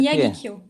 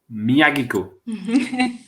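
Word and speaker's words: Miyagikyo: How do we pronounce that? Yeah. How do you say that? Miyagi-Kyo. Miyagi-Kyo. Miyagi-Kyo.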